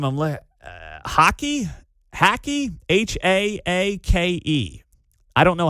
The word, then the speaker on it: Haake: H A A K E. I don't know how to pronounce his last name.